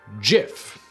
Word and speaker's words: GIF: we should say it jif yup that's right despite all arguments to the country the creator of everyone's favorite embeddable animation format insists that it is pronounced with a soft g according to willheid the